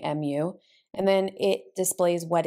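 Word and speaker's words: μ: read it so for example how we would pronounce these symbols this is a mu right mu and then it displays what it is notice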